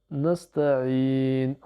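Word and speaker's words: نستعين: Et le nun, on ne prononce pas la voyelle finale, bien sûr. Donc ça nous donne nasta'in.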